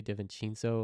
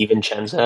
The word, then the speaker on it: DiVincenzo: How do Yeah, you pronounce it? Dante DiVincenzo or something. DiVincenzo.